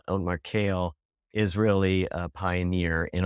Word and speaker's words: Keel: massive I think otar kale ke L it looks like Keel but pronounced kale Oar kale is really a Pioneer